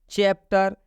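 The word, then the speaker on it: chapter: चैप्टर, चैप्टर में सी के बाद से एच आया है, यहाँ पर सी का उच्चारण च हुआ है।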